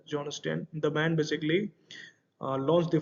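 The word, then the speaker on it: Jon Stein: John stain basically johon Stan we can say pronounced John Sten the man basically launched the first Robo advisor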